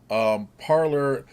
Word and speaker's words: Parler: If we take what it is, it's actually parler, which is a French word, But, and I forget what they call when you send a message on that platform.